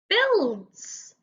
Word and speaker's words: builds: designs and my next word is the word builds and again we've got some letters that don't